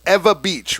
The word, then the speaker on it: Ewa Beach: okay there you go she just taught me how to say it it's ewa beach right yes so if